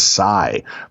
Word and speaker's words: psi: Those episodes are denoted by the Greek symbol, looks like a trident, which is pronounced and spelt as psi, the 23rd letter of the Greek alphabet, having the numerical value of 700.